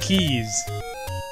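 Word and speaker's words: Keese: are spelled keiss yeah I know but they're pronounced Keys uh go to the first Bush where there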